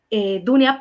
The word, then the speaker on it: Dunia: Dunia, pero como ellos no pronuncian la U, sino la O, me pusieron en papeles Donia.